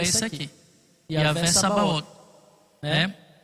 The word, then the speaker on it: Sabaoth: Não é nem Sabaoth, né? A gente fala Sabaoth, mas no hebraico fala Tsa.